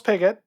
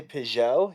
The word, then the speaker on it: Pigott: So today our guest is Charles Pigott. I should have checked off air if that was how to pronounce it, but it is, right?